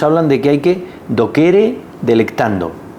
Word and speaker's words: docere: de que hay que do kere delect o vamos a decir docere delect latín se pronuncia do kere pero bueno docere delect como digo hablamos